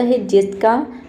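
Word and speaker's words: whose: बाद एच है लेकिन यहां पे भी डब्ल्यू लेटर साइलेंट रहता है यहां पे हुज हम केवल एच ओ एस ई को हुज पढ़ते हैं डब्ल्यू को नहीं पढ़ते इसका मतलब होता है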